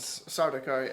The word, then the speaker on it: Sardaukar: What are they called? Sardaukar. I think that's how you pronounce it.